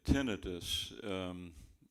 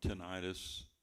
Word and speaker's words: tinnitus: worried about it yet tinnitus or tinnitus whichever way you want to pronounce it or ringing in the